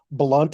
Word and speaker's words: Blount: blunt and that is spelled b-l-o-u-n-t but pronounced blunt in the southern style he was nicknamed sunny